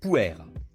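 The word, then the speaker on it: Pu'er: Le puer se prononce puer.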